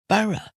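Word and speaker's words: borough: similar and comes from this is Bur b o r o u g h bur so that the o u g h is just an uh sound and there are lots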